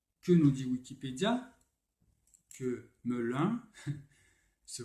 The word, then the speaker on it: Melun: Que Melun se prononce Melun.